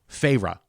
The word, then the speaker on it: Feyre: And like the main character, who we are finally told's name is Feyre, spelled Feyre. Like fairy? Feyre. But they like... make a big deal in it to even pronounce it for you.